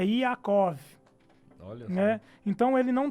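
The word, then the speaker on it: יעקב: É Iacov, Olha né?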